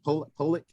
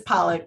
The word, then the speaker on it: Pollak: Did I say it right? Pollak? It's Pollak, but you're not the first person to do that.